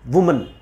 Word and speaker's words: women: WO अगर singular के साथ यूज़ हो रहा है तो इसकी प्रोनाउंसिएशन होगी वुमन। अगर ये सिंगुलर है जैसे MAN वुमन, और अगर MEN है तो ये वू वी हो जाता है विमेन।